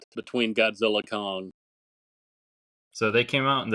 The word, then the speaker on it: Godzilla x Kong: Do we pronounce the X or is that silent between Godzilla Kong? So they came out, and I think it was the director said the X is meant to remain silent.